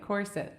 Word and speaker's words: Quartet: I'm part of a songwriting group that is the Quartet, pronounced like corset.